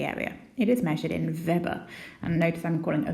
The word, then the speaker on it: Weber: it is measured in verber and notice I'm calling a verber as opposed to Weber because it was a German I think scientist so the W is pronounced like a V so what this actually